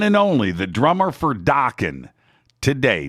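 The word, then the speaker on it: Dokken: uh wild mick brown the one and only the drummer for docking today docking rhymes with rockin mick brown today is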